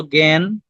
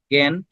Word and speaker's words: জ্ঞান: আর এটাকে দেখলে তোমার কিসের মতো লাগে, ওই যে জ্ঞান শব্দটা তোমরা শুনছো, জ্ঞান, জ্ঞান। তাহলে জ্ঞান, জ্ঞানকে ভাঙলে আমরা কি পাই, গ উচ্চারণ হচ্ছে, কিন্তু গ কিন্তু না, এটা হচ্ছে জ যোগীয়।